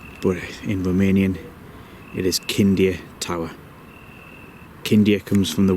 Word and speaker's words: Chindia: Some people pronounce it Chindia, but in Romanian it is Chindia Tower.